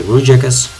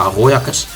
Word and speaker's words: Rojakkers: I've actually started playing back in season 7 under the name of K. Rojakkers, or as I would pronounce it in Dutch, K. Rojakkers.